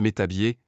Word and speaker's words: Métabief: un satisfait site à Metabief prononcé metabier pour sa démarcheassz avancé